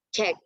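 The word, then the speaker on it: 책: Buku itu dalam bahasa Korea adalah cek. Cek. Ini yang ini dibacanya cek, cek, cek, cek, gitu ya teman-teman ya.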